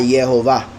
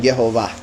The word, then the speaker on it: Jehová: o I dijera Adonai cuando llegaron los traductores y veían las consonantes con las vocales e o dijeron Jehová y ahí quedó el nombre Jehová pero no no hay una